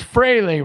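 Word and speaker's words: Frehley: It's Freley, right? And I say it wrong, but it's always like Freely feels so easy to say. Frele is how you say it, right?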